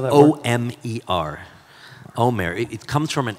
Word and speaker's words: Omer: Or how you spell that word? O-M-E-R.